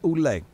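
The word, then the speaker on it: Ouellet: Going one-on-one, PCO Pierre Car Oulet, or Oulet, depending on how you want to pronounce it.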